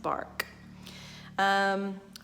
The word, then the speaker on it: BARC: Behind Animal Rescue Center which very very aptly is pronounced bark bark will be a